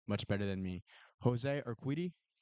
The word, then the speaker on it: Urquidy: I'm sure you guys know how to pronounce his name much better than me. Jose Urquidy? Yurtike. Yurtike.